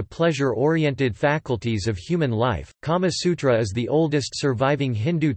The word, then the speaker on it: Kāmasūtra: The Kama Sutra, Sanskrit, Kamasutra pronunciation, Kama Sutra, is an ancient Indian Sanskrit text on sexuality, eroticism and emotional fulfillment in life.